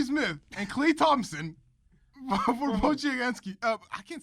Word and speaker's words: Podziemski: He offers me Jabari Smith and Klay Thompson for Podziemski. I can't say his name. Podziemski? Podman. Podemski. Podemski, there we go.